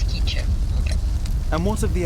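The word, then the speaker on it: K'iche': Oh, I was pronouncing it quiche. Like that. Like the vegetable. It's quiche.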